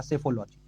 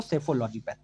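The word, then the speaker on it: psephology: किया जाता है तो याद रखिएगा सेफोलॉजी पी इसमें साइलेंट है इसलिए इसको सेफोलॉजी पढ़ते हैं मतदान व्यवहार का निर्धारण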